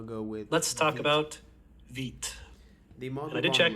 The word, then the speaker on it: Vite: with let's talk about vit the model I did check it is pronounced that way you can call it vite but it's supposed to be French for quick that's what I'm told